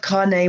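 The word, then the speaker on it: Kāne: shamans ku lono and kane pronounced carne we got it right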